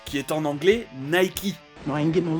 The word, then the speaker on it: Nike: anglais, et ça sonne mieux que la vraie prononciation, Reebok. Comme Nike, qui est en anglais Nike.